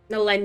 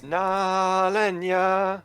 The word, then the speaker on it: Nalenya: Nalenia. Yeah, God, I'll I'm step gonna in. get your name right someday. It's Nalenya. That's how it's pronounced.